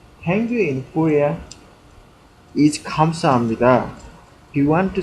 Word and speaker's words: 감사합니다: Pronounce it correctly. 감사합니다. 감사합니다.